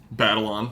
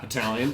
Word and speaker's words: Batalon: And then we have the main returning cast of the Tom Holland group with Tom Holland, Zendaya, Jacob Batalon. Not Battalion.